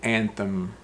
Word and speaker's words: anthem: in the word but it's pronounced anthem anthem anthem so the t-h is a th and the sound anthem anthem anthem so